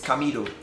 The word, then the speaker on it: Camidoh: Camidoh. Am I saying it right? Yeah, most people get it wrong, but anyhow you mention it, I'm cool. It's Camidoh.